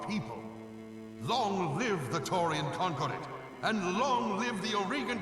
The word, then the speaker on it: Concordat: It also bugs me in the voiceover that they always say it is Concordat, not Concordat, because it sounds like conquered it, and it just bugs me.